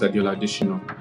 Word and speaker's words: Adeola: call me right but I'm used to Adola my name is Adola um I hate introducing myself like because